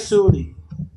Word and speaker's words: Suli: Right, so my name is Suli. Shan, Shin. It's probably your name was bad, my name's worse. It's Suli, spelled with an S.